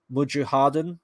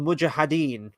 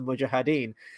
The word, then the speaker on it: mujahideen: says oh yes the mujahideen which is as far as I know that's the way that it's pronounced is the mujahideen and then I think he says it a second time would you harden and then I don't